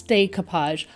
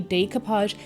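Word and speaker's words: découpage: why I pronounce it the way I do so I've made it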